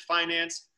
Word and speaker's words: Fynanc: our company is finance we spell it with a quirky spelling but we we pronounce it finance so as a company